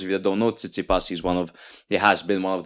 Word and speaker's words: Tsitsipas: Tsitsipas, is that how you pronounce it?